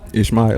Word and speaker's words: Ishmael: Ishmael Walker, 513. All right, your name is what? Ishmael, it's out the Bible. It's out the Bible. Spell it. Ishmael. Say it one more time. Ishmael, like Jeremiah, Ishmael.